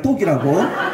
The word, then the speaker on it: 똑: 그리고 발음은 잘한 떡이 아니라 똑이라고.